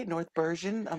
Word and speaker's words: Bergen: North Bergen? I'm like, no. We Like were Ron colonized by the Dutch, Burgundy. not the French. Not the French. The Dutch took over here. So everything is a hard G.